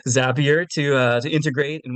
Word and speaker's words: Zapier: you can use zappier I always want to pronounce it zapier for some reason but it's a zappier to uh to integrate